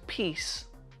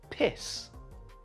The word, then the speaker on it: peace: Well, this guy pronounced the word peace as piss, which is another name for urine. It's an easy mistake to make though, because peace and piss sound exactly the same, except for one sound.